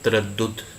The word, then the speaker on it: تردد: میں پہلا لفظ ہے تردد، تے کے اوپر زبر ہے، رے کے اوپر زبر ہے، پھر دال کے اوپر شد اور اس کے اوپر پیش ہے، اور دال آخری جو